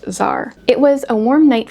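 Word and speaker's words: Xar: Apparently, there is a character named X A R pronounced Zar.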